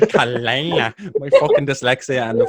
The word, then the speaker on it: Caela: I was like, James, if I get this girl's name wrong, I'm going to fucking It's like snap. Caela. It's like Caela.